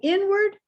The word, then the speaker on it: inward: in the word so inward outward and southward are all stressed at the beginning that first syllable is stressed inward outward southward